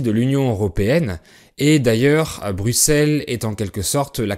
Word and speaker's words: Bruxelles: est sa capitale est Bruxelles qui s'écrit avec un et dans ce cas le X est prononcé S comme dans 6 10 ou 60 par exemple le pays